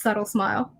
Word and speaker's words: xsubtlexsmilex: subtle x smile x so it looks complicated but it's pronounced subtle smile all right so that's